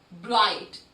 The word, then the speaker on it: bright: Now, let's look at the next word, bright. Again, in this word also, the letters G and H are silent.